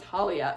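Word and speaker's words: Thalia: of what happened with Talia. Yes, I'm sticking with the T pronunciation for Talia.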